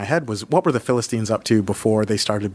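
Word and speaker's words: فلسطين: rights organization and the the Arabic pronunciation for Palestine is Philistine and I was like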